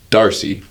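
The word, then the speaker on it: D'Arce: I don't know his first name, but it's Darcy. D''ARCE. That's why it's called Darce.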